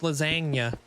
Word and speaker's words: lasagna: Where's the G at? It's lasagna. Everybody knows that.